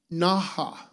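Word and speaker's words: נכה: The Hebrew meaning for smote is pronounced naha, and it means to strike, to hit, to beat, to slay, or kill.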